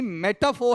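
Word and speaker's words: metaphor: मेटाफोर या मेटाफोर? मेटाफर नहीं है। मेटाफो।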